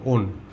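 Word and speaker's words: -one: এমনি উচ্চারণটা দেখলে ওয়ান মনে হবে, কিন্তু আমরা উচ্চারণ করবো ওন বলে, ওন।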